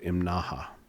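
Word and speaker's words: Imnaha: road uh up into a place called Im Naha. I think that's how it's pronounced. It's spelled I M N A HA.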